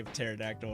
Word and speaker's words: pterodactyl: So then we just kept saying every time we would say pterodactyl around him, we're like, the spiterodactyl.